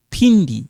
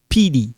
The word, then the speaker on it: Pindi: So Pindi, not Pidi or Mampindi. No. Pindi. Pindi.